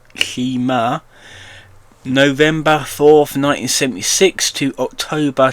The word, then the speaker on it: Shimer: So Elisabeth Lee Avey Shimer, pronounced Shimer, November 4th, 1976 to October 2024.